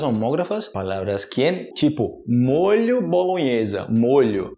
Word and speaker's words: molho: as palavras palavras homógrafas as palavras que tipo molho bolonhesa molho e eu posso falar sempre que